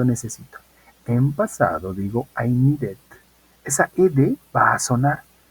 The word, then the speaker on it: needed: t es decir que cuando los verbos terminen en d y terminen en t vamos a poder hacer sonar la Ed cuando querramos hacer la